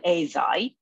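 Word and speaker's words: Eisai: that the japanese pharmaceutical company acai in japanese it's called azai developed the foam tablet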